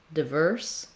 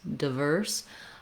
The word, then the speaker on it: diverse: But you also can say it with a clear I diphthong in the first syllable. Just make sure that you're still stressing the second syllable. So if you're saying diverse, you still want the length on the verse syllable, diverse. So two correct pronunciations for diverse, diverse, not with stressing on or diverse.